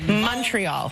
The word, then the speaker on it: Montreal: trying to say it we pronounce it Montreal like it's with a youal Montreal and we always know